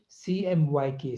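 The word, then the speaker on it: CMYK: हम प्रोनाउंस करते हैं इसको प्रोनाउंस हम सेपरेट लेटर से प्रोनाउंस करेंगे हम इसको प्रोनाउंस करेंगे सी एमवाई के सीएम वाई के का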